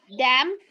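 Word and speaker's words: dame: Dam. Dodo. Okay, it's dam. E. Like we have in madam.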